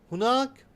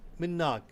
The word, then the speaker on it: هناك: The word هناك, which means there, is also sometimes pronounced differently. هناك, هناك, and sometimes مناك, all means there.